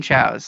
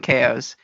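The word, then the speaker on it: Chao: and it's funny I I would refuse to call them Chows like absolutely would refuse to I'd always call them Kos um it's just I would not pronounce them that other otherwise like I would adamantly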